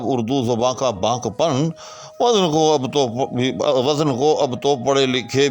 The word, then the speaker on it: وزن: کرتے ہیں اس کا۔ تو یہ بھی فا یا فعل کے وزن پر ہے، مفع کے وزن پر نہیں ہے، یعنی وزن لفظ ہے،